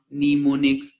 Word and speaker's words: mnemonics: There are a number of strategies for improving memory called mnemonics, pronounced mnemonics, to help you improve your memory.